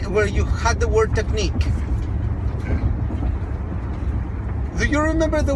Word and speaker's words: technique: And how many do you pronounce only out of those 5 letters? 3. 3. Now, what is the color of the vowel in nick?